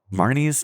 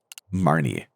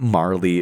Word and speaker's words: Marnie: But officially Marnie's name is Marnie. Um so uh it's not Marley, it's not Mardy. Uh it's Marnie.